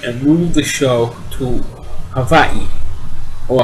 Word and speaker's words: Hawaii: move the show to Havi or Hawaii it's actually pronounced Havi and they what what